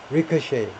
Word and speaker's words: ricochet: 잠재적인 극우 시위에 대한 소문이 had ricocheted, 발음이 이제 ricochet인데요. ricochet, 앞 음절에 액센트를 두고 ricochet, 마지막에 shay라고 발음합니다.